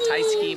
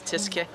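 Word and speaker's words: Tyskie: that it's polish tisky I said I said Thai ski but it's tiske we're gonna enjoy some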